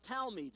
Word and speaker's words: talmid: Each rabbi had a small group of talmids. It's T-A-L-M-I-D, but it's pronounced Talmid.